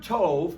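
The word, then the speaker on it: טוב: The word tov in the masculine singular form is spelled tov.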